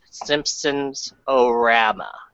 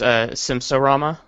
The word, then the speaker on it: Simpsorama: Simpson fan myself, I wanted to start off with Simpsons-orama, if we could. Isn't it just Simpsorama? I'm sorry, I mispronounced.